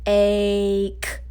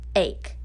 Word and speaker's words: ache: power to the a so the e is silent that's why we don't have a dot under it so ache ache ache so then boys and